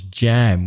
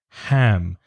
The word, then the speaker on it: ham: best term processed ham be careful of the pronunciation of ham some spanish learners pronounce it as jam which of course is so the ham imagine you're cleaning your glasses ham so you've got processed